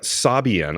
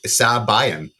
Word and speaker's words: Sabian: line yeah but like Sabian I could see that one um yes phonetically it makes s s again being a stickler s a made a a you know sabayan sabayan whatever it's not a word